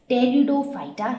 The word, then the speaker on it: pteridophyta: Seeds not produced, they were known as pteridophyta. Here P is silent.